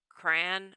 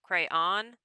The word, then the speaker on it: crayon: No, crayon. Crayon. Second syllable rhymes with dawn.